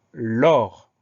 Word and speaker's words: lors: Le mot l'or, il s'écrit à peu près comme il se prononce, c'est-à-dire L-O-R, et on va mettre un S à la fin. Donc, c'est un S qu'on n'entend pas, un S muet, auquel il faut penser.